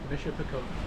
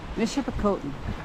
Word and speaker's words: Michipicoten: There's more of the southern tip of, the western tip of, how do you pronounce it? Michipicoten. Michipicoten.